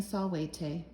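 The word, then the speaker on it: salvete: one person to watch i ought to be saying solwayte so there you go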